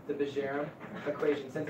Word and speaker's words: Bjerrum: Bjerrum, that's how you're supposed to pronounce it.